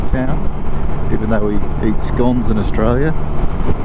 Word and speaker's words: Scone: pronunciation of the town even though we eat scones in Australia it's games but the town's pronounced scone well for the first time but